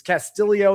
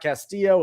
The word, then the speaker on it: Castillo: It's Castillo, not Castillo. It looks like Castillo. He pronounced it Castillo.